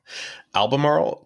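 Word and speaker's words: Albemarle: I've always thought that almaral was a really hard word to say it definitely is it's kind of like Mar the cigarettes the al marro man albamar kind of um the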